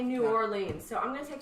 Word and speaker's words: New Orleans: to pronounce this again is it nawlins is it what's the price in New Orleans New Orleans that's the proper way to say it but New Orleans and